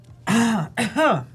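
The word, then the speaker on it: Rômulo: Romulo's from Brazil Homulu. as well. That's how we would pronounce. I think it's Homulu. Huh? Homulu. The Homulu? R in Homulu? Portuguese sounds like your H, English H.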